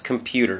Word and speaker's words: computer: computer say it slowly computer often has a du sound again don't trust your eyes computer computer it actually a little bit of a d d d not t not computer that's not wrong but the more common pronunciation for Americans is computer computer computer again trust your